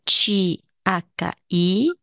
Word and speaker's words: chi: Io mi chiamo la c h i si pronuncia Chi io mi chiamo